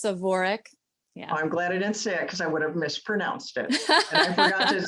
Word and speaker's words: Svorec: Svorec. So it's almost Svorec. like there's an A after the S, Svorec.